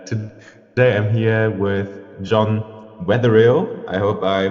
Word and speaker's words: Wetherill: And today I'm here with John Wetherill. I hope I pronounced that right.